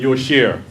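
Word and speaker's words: יושר: For the slow people, mavish and yosher. Mavish. From ba'ash, like ba'ush, something stink, and yosher, like upright, yashar.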